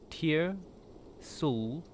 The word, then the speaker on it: Tyr'Sul: I I think you also put I think you also uh messed up the pronunciation a little. There it is. Tier Sul.